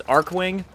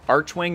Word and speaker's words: Archwing: the archwing technology which i always thought it was arc wing archwing is now the official pronunciation of the device i frankly don't care